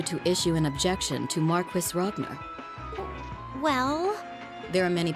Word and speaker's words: Marquis: Marquis, that's how you say it.